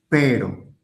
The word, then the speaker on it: pero: Alors, quand il est au milieu d'un mot et qu'il s'écrit avec un seul R, il est doux. Pero per et quand il